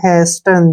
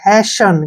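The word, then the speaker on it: hasten: ध्यान से देखि इसको पढ़ेंगे हम हेस्टन जो कि गलत है यहां पर ई से पहले अगर टी आता है तो टी यहां पर साइलेंट हो जाता है एच ए से हो गया है और एस का उच्चारण से हो गया ठीक टी का उच्चारण हम नहीं करेंगे और जो एन का उच्चारण है व न के रूप में होगा हैसन क्या पढ़ेंगे इसको हैसन हेस्टन नहीं पढ़ना है हैसन हैसन का मीनिंग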